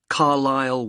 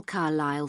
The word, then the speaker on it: Carlisle: and your address 45 Carlisle way could you spell Carlisle for me sorry it's c a r l i s l e you don't pronounce the S carlisleway and that's in